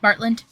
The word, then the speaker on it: Martland: It's Martin, right? That's how you say his name. Yeah. Martland.